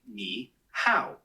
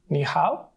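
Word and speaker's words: 你好: nice to meet you niow is pretty straightforward to pronounce it sounds like ni how just make sure that keep the knee part high and then go down and pitch on the how give it a try knee how that was great really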